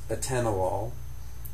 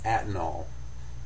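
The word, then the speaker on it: atenolol: This is a tennalol and you can see the o suffix and this is mispronounced often because it has four syllables in it but patients will often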